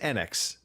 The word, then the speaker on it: Enix: or Square Enix game, depending on how you want to pronounce it. I would say Enix, but all right. Apparently it is Enix. I have heard now, supposedly that's the way it's called. I always said Enix.